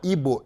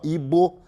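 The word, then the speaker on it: Igbo: É uma tribo na Nigéria, uma das 3 etnias mais importantes da Nigéria, se chama Ibo, I-G-B-O, Ibo, é assim que se pronuncia.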